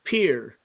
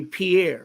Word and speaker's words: Pierre: French pronunciation would be Pierre right right but it's pronounced like uh the little thing you walk out on onto a lake and not a dock but a pier right um they pronounce